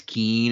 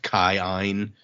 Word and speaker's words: Kin: of the aon sounds which is why when we read like k i n as keen it's actually like pronounced kine.